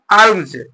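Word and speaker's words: alms: अगला वर्ड क्या है अमज अगला वर्ड क्या है अमज अमज देखिए लिखा क्या है ए एल एम एस अलम से लिखा गया है लेकिन पढ़ते क्या है इसको अमज पढ़ते हैं ए एम जे एमज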